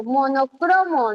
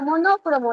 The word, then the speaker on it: monocromo: Cro, porque yo pronuncio monocromo, no existe la palabra monócromo, lo vimos en clase.